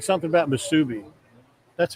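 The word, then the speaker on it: musubi: Someone was saying something about Msubi. That's how you pronounce it.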